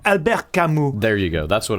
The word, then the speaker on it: Albert Camus: It was almost like what something Albert Camus would write. Kind of like a stranger in a strange land. All right, yeah, that's maybe a little lofty. I pronounced it wrong. Albert Camus.